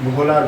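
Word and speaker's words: Wöhler: জৈব রসায়নের জনক হচ্ছে ফ্রেডরিক ওহলার। ইনি হলেন জৈব রসায়নের জনক। ইনি হলেন জৈব রসায়নের জনক ফ্রেডরিক ওহলার। অনেকে এই উচ্চারণটা ফ্রেডরিক ভোলার বলে থাকে, ফ্রেডরিক ভোলারও বলা হয়।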